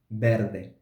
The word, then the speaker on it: verde: with vowel or consonant when the array is at the end of a syllable we will pronounce the not so for example in the second row Verde sorry Verde Verde we also produce the